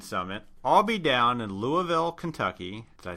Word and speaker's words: Louisville: the DS marketing summit I'll be down in Louisville Kentucky as I say it right no yep